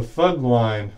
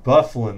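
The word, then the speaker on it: Byfuglien: there uh on that it's going to be Dustin bufflin that's how you pronounce that one good appreciate you joining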